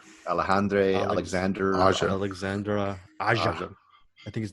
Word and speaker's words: Aja: It's taken it a little bit more seriously, and it's by it's Alexandra Asia, which, if you know that name, Alexandra Aja. I think his name is Aja.